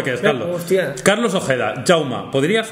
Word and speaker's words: Jaume: pronuncia yauma no se no se pronuncia jauma ni jaume ni yauma ni jaume es yauma entiendo que quizás no